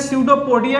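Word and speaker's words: pseudopodia: है, इसको बोलते हैं स्यूडोपोडिया या फिर स्यूडोपोडिया बोलते हैं। ठीक है, स्यूडोपोडिया बोलते हैं। पी से स्टार्ट होता है, यहाँ पे पी साइलेंट होता है आपका।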